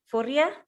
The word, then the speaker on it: Furia: Irene, correct me on the pronunciation. It's Furia? Furia.